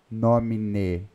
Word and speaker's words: nomine: In nomine termina com E. Nós não podemos pronunciar como se fosse um I, in nomine. Porque em português é comum nós fazermos isso, né? Por exemplo, leite. Né? Só que no Paraná, que muita gente fala leite, leite quente, não é? Mas em latim nós não podemos. Se termina com E, tem que ser pronunciado o E, nomine.